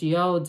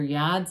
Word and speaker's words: yod: energy it rains down those yods or yards of the tarot either pronunciation acceptable folks and with that it's